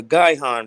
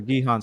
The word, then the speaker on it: Gihon: you can you type up the word uh guy han real quick let's spell it g-i-h-o-n and can you pull it up in the blue letter oh you talking about the gihon spring that's in israel by the way spring